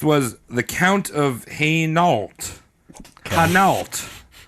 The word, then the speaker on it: Hainault: Hainault. It's some French. Why don't you spell that? Hainault. Okay. It's like Hanes, like underwear.